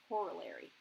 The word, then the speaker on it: corollary: these are actually called corollaries, is how that's pronounced, corollary.